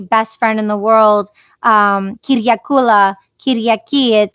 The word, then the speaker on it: Kyriaki: It's by Kyriaki.